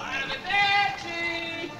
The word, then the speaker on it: arrivederci: Arrivederci! Arriva... How do you pronounce that?